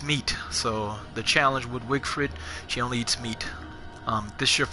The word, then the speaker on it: Wigfrid: Yep, Wigfrid. She's the performing artist. She excels in battle. She absorbs the power to her health after she defeats someone. And she only eats meat. So the challenge with Wigfrid, she only eats meat.